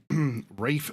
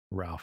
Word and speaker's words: Ralph: Yeah, so it's always been Rafe, even though it looks like Ralph. It was like this pronunciation thing of how they used to say it that way, but and it just stuck. Like it was like supposed to be Ralph, but it just ended up being Rafe, and he